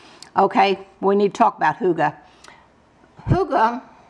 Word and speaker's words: hygge: says let's hygge okay when you talk about hooga hooga hy g GE is pronounced hygge h oo ga is pronounced like